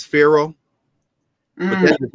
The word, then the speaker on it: pharaoh: you look there uh per means house wah means great together means uh the parrot means the great house and we pronounce it uh as pharaoh but that does not